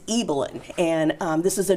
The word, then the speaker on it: Ibelin: in the movie so don't feel bad it's eelyn and um this is a Nordic name okay